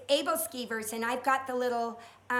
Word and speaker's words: aebleskiver: how to say that word I'm horrible at pronunciation and it's aebleskiver and I've got the little pot thing that